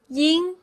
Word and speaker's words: ying: It's the same as ing, but when ing stands alone, the spelling is Ying. Ying. And sometimes you'll hear people from the northern part of China pronounce ying as ying with a more nasal sound. Either one is correct. Okay? Ying or y both are correct.